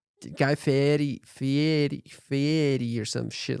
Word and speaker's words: Guy Fieri: I met Guy Fieri. Oh, what Guy have to say? Guy Fieri. The way he says his name is different than how you think he'd say his name. Guy Fieri or some shit like that.